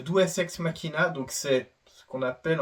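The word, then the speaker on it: deus ex machina: ont sortis par le le nouveau dux ma je prononce faux j'ai pas fait de latin les gars c'est le douex Makina donc c'est ce qu'on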